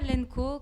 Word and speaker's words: LNKO: Nous, on dit Lenco. Lenco, ok.